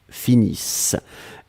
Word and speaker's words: finissent: Nous finissons, vous finissez, il, elle finissent. ISSENT, mais on ne les prononce pas, donc le ENT comme d'habitude.